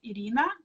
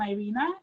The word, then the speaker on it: Irina: because when i like in russia my name is pronounced as irina but in america nobody could say that so it became irena and now it sounds